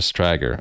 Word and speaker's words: Strager: Rhymes with swagger, so Strager.